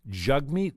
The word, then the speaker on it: Jagmeet: trump's fault jagmeet sing jug meat sing jug meat sing uh it's spelled jag meat but i've heard it mostly said jug meat and buddy the other